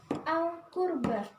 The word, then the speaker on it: Al-Qurba: Al-Qurba. Gimana hukumnya? Apabila al bertemu dengan huruf Al-Qamariyah, maka hukumnya dibaca idhar.